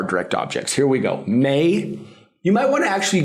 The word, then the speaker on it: me: May. You might want to actually give yourself a pronunciation code because if you say me, because that's what you're reading. No, remember. A, E, O, U. May.